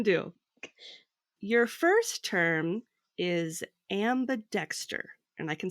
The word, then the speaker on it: ambidexter: your first term is ambidexter and I can spell it for you so it's a m b i and then Dexter like the person so it sounds like